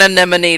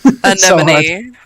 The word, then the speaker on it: anemone: The emphasis in anemone just goes on a different different syllable. That's it. Anemone. Anemone.